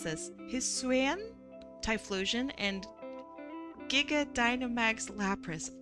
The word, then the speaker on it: Hisuian: Hisuian. That's how you pronounce it.